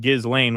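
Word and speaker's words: Ghislaine: The H in Gizlane means that you should pronounce it Gizlane with a hard G as in go.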